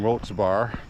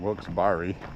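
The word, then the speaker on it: Wilkes-Barre: was uh speaking in wils barar which by the way they accept two pronunciations for that wils bar and wilss Barry wilberry whatever you feel like saying I guess is okay with them and uh so Trump was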